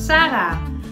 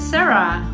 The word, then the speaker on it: Sarah: from the Netherlands and you pronounce my name in Dutch as Sarah and not as Sarah but my Instagram name